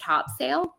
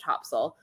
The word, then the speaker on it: Topsail: I thought it was pronounced Topsail because that's how it's like phonetically spelled.